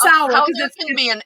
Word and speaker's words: Samhradh: no way excellent yeah it's sour m and a d in there that you don't even pronounce yeah i was thinking